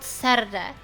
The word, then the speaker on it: Serde: It's called Serde. The pronunciation of this library is Serde, and it is a framework for serializing and deserializing REST data structures efficiently and generically.